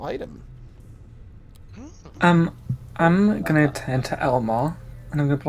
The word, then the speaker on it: Ellmor: It's spelled completely different, but it's ELLMOR, but you know, it's still Elmore.